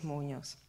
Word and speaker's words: Muñoz: E allora cominciamo con Boris Muñoz. Muñoz, l'accento sulla O, abbiamo imparato.